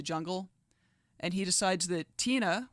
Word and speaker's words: Tina: and he decides that Tina which rhymes with Sheena supercool and Tina Turner